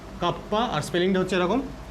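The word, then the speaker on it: kappa: উচ্চারণটা এরকম হয় কাপ্পা, আর স্পেলিংটা হচ্ছে এরকম।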